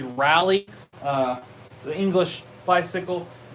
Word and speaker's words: Raleigh: is a 1968 raleigh it's spelled raleigh it's actually rally uh the english bicycle